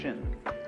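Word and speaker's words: 心: Chinese mind is um this word pronounced shin and shin is here Shin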